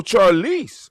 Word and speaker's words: Charlize: Spell it. Charlie Barnes. Charlie Barnes? Charlie. Like CHARLEACE. As in cat E. Oh, Charlize.